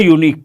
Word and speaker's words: unique: say please respond a unique person yes very good here the first letter is a vowel letter but it is a consonantal sound imagine you have to